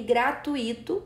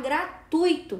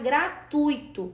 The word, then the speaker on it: gratuito: o certo é falar gratuito tá a palavra gratuito não recebe acento porque é uma paroxítona terminada em o na Lembrando que não